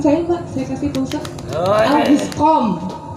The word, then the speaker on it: Auguste Comte: Auguscom, bacanya Auguscom ya, jangan August Comte, Auguste Comte, jangan.